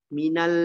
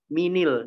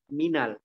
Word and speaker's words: minal: Jadi diganti harokat fathah. Mungkin antum pernah temukan kan dalam bahasa kan? Dalam Al-Quran juga seperti itu kan bacanya minal. Gitu ya, bukan minil. Karena dia dalam bahasa Arab jadi bacanya minal. Ya, bukan minil. Tapi apa? Minal.